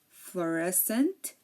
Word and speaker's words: fluorescent: scent science and scissors we hear that we hear the S but we really don't hear the C so here the C is silent because um like we said it is after an S and before an e or an i again desent Fascinate floresent